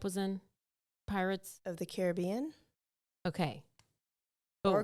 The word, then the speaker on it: Caribbean: that Johnny Depp was in Pirates of the Caribbean okay or Caribbean yeah I know it's Pirates of the Caribbean but it's the Caribbean islands right yeah okay okay so anyway she's